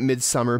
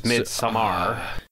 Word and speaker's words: Midsommar: calling it Midsummer but I have heard other people call it midar um and I think that's how you say it yeah no cuz it's not spelled summer It's s m m a r it's like all Nordic and stuff so it's midar so I think there